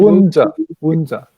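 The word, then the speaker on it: Woon Tze: Wunza.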